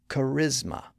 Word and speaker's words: charisma: consider a word like Charisma it's a Greek word that that English borrowed in the 1600s it has three syllables and the stress in the middle Charisma but notice what happens